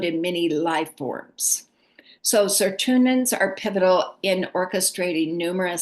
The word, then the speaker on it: Sirtuin: The next one is the Sirtuin genes.